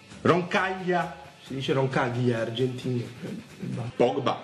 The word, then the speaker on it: Roncaglia: Si legge Kučka. Roncaglia! Si dice Roncaglia, argentino.